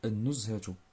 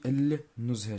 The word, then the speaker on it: النزهة: إذا أنا لاحظتو معايا ملي كتكون الشدة كنطقوش اللام، كنقولو النزهة ماشي النزهة، كتجي تقيلة النزهة، لأن هذه الشمسية وهنا القمرية.